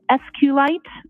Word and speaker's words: SQLite: lowercase i t and sqlite uh is also commonly pronounced as SQ light so both pronunciations are acceptable now once you received